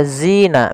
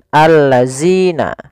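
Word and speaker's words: الذين: Jangan sampai kita membacanya ee zina misalkan alladzina. Nah, ini kurang tepat atau salah. Kenapa? Karena dia merubah huruf antara huruf dal diganti dengan huruf zai.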